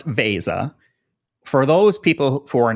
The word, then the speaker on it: Veza: and I'm sure you get conf use a Visa a lot people saying it so let's get the word out there right it's pronounced Vasa for those people who are not familiar with